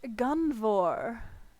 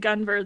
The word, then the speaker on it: Gunvor: well then we've got gunvor is that the preferred pronunciation yep excellent i mean i